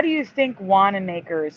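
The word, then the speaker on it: Wanamaker: Has anyone ever heard of John Wana Makers or Wana Makers? No, I never have. Well, how do you think Wanna Maker is spelled?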